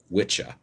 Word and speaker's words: wicca: at the anglo-saxon words in old english apparently that is pronounced witcha and it referred to